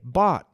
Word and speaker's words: bought: Às vezes tem som de F, mas muitas vezes, como nós temos na palavra bought, o GH não tem som.